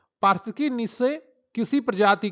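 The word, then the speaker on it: niche: निशे इसको जो उच्चारण है सही उसका है निशे। तो यहां पर नीचे इन्होंने हिंदी में उच्चारित कर दिया है। च को के पढ़ दिया है।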